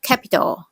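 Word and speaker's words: Capitol: Capital เมือง หลวง กับ Capital ที่ แปล ว่า าระ กลาง นะ คะ ออก เสียง เหมือน กัน เลย แต่ สะกด ต่าง กัน นิด หน่อย ค่ะ ตัว ท้าย นะ คะ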